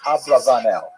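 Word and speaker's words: Abravanel: Probably correct is Ablavanel. That's probably how he pronounced it more or less with my Canadian accent.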